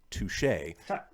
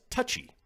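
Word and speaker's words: touché: He used to read the word Touche, touche, as touchy, which made the Three Musketeers seem very sensitive and kind of bitchy.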